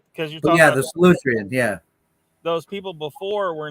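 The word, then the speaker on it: Solutrean: I think you're pronouncing that wrong, though, man. I think it's Solitrian. Well, yeah, I do. You get the wrong emphasis sometimes. The wrong emphasis on the wrong syllable.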